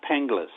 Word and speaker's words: Penghlis: Pronounced Panglas. Ping. Pinglas.